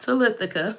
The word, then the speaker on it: Talithica: But anyway, like I was saying, my name is Talithica. It's pronounced Talithica for people who don't know.